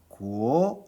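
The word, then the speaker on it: 国: 구오라는 소리를 제2성으로 발음하면 구오 이렇게 됩니다.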